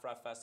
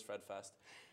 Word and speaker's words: Fred Fest: It's not Fred Fest, it is Fred Fest.